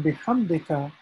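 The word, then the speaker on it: بحمدك: like nothing nothing special whereas here in bihamdika this h here if you can see the my mouse cursor here is it needs to be pronounced with the throat okay and what i mean by that is when you recite it when you say you should be able to feel it in your throat so compared to ha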